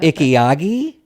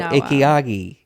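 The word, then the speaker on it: ikigai: Ikiagi like Miyagi. No. I is the I. You know he was from Okinawa, Japan. Miyagi. So Ikiagi.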